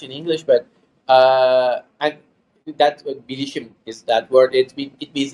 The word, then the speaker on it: bilişim: But and that bilişim is that word.